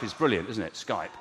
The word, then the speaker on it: Skype: I mean, for example, I think Skype is brilliant, isn't it? Skype.